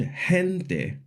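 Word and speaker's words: gente: Like in the words queso kinto to when a g is followed by an e or an i, it normally makes a soft g sound like in the word hente. But when we want the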